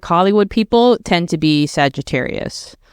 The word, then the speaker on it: Sagittarius: Sagittarius, yeah.